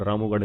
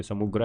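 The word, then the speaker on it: सामूगढ़: The battle of समुग्र was fought between Aurangzeb and we Mughal princess? तो रामूगढ़ का जो युद्ध है समुगढ़ का समुग्र समूगढ़ रामूगढ़ नहीं है यह समुग्र है समुग्र का जो युद्ध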